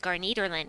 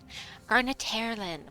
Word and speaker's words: Garnetaerlin: you the team with gar Nederland yes I know I'm pronouncing it wrong I'm doing it on purpose because I think it's funny Garnet hairlin whatever his name is I like gar Nederland okay yep I will